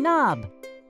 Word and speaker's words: knob: k knock and knob we do not pronounce the k at the beginning of these words just like we do